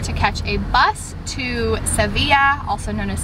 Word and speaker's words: Sevilla: sevilla also known as seville i feel like people have said it a few other ways but we're trying to say it sevilla because i'm pretty sure that's how you pronounce it in spanish so it is like